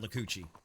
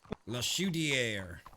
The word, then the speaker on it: Le Chaudière: dumb redneck mouth to make the sound Lacucci. I mean, Le Chaudière is not that hard. Don't you show off like that, son. I mean, he literally told us all the syllable. La Chaudière.